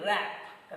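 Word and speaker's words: wrap: Then rap. W is silent there.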